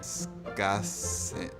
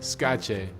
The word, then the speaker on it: skače: It's the sh with the hyphen. Kdor ne skase ni Slovenk.